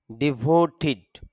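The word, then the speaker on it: devoted: এই জন্য ডিভোটেড না বলে বলবো ডিভোটিড।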